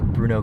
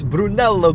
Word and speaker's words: Brunello: cars as opposed to Bruno Cucinelli. Isn't that how you say it? Bruno. You said Brunello. Brunello. No, it's Brunello. No, it's Bruno. No, it's Brunello. Google it. It's Brunello Cucinelli.